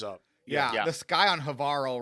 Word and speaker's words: Havarl: The sky on Havarl rhymes with Carl looks great afterwards.